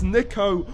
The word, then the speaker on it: Niko: wrong i can't believe it's nico not nico i don't know how